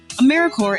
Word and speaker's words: AmeriCorps: make that same mistake americore is alive and well just spelled with a silent P so think of Apple core or core of the earth now that we have